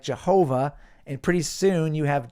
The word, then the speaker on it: Yahweh: was sort of a breathing sound before yah became a very pronounced ho sound yah ho and then of course the yahwe the W sound from the Hebrew VAV W yahwe started to be pronounced as a v sound with an a after it so yah way became yah ho VA instead now you have Yahweh being pronounced like Jehovah and pretty soon you